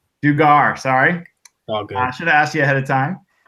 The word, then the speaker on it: Dugar: Did I pronounce that last part right? Is it Dugar? Dugar.